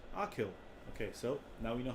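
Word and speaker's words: Achill: working on the mountain actual island nope akhil i knew it ah kill akhil island is the largest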